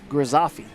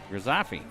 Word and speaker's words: Grizzafi: to be AJ grazafi I will spell that for you there AJ g r i g r i z z z a a f f i i grizzafi grasafi counting makes me think of graffiti somewhat and I have the